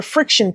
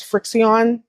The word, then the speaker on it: FriXion: say it's essential, but it's not, is a friction pen. I love this pen. Actually, I was pronouncing it as Frixion because someone else pronounced it as Frixion.